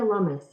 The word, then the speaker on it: Lummus: senate for a year let's see how we pronounce her name before we give her a call here it is cynthia lummus lummus okay all right um yeah i don't